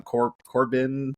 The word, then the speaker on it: Corbijn: It's like Anton Corbin. It's Baron Corbin. This is just like Corbin? Yeah. Okay. I think it's the same as Baron Corbin. Yeah, That's Anton what I Corbin.